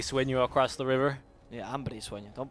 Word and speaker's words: Hambre Sueño: Yeah, Hambre Sueño. Don't pronounce it like an American.